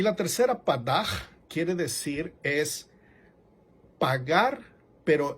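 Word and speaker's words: פָּדָה: Y otra que se llama Padaj, es P-A-D-A-H, pero lo pronuncia como G, Padaj.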